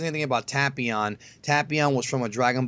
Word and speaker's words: Tapion: And by the way, before anybody says anything, it's Tapion, not Tapion. Once again, the dub, Rayleigh, Saiyan, Tapion. Don't say I'm a pronunciation Nazi, because I don't care how you say it, but don't leave stupid comments about me saying it wrong, because Rayleigh, Saiyan, and Tapion is wrong. It's Tapion.